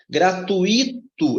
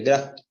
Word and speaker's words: gratuito: você está bisurado demais gratuito é assim que pronuncia não é gratuita mais forte Ok então